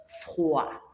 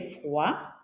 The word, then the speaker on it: froid: That O and I there, we pronounce it as wa and not oi. Wa. That's why we are saying froid, not froid.